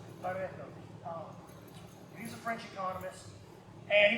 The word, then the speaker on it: Pareto: His name was Pareto. That's not how you pronounce it. I'm from the country. If you just roll an R, they'll let you buy any foreign language. Pareto.